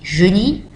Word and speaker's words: joli: Donc, c'est partout la même prononciation, bien que, ou quoique elles s'écrivent d'une façon différente du masculin singulier, masculin pluriel et ou féminin singulier, féminin pluriel.